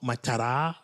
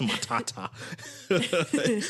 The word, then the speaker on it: Matata: I don't know why it's not mat it's it's Matata he got to bring